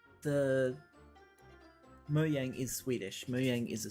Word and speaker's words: Mojang: it simple as that mooyang is officially called moyang but people still call it mojang gif is officially gif